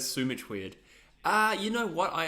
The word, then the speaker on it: Sumich: Now I think about it, Sumich is probably the correct pronunciation. I do say both, to be honest.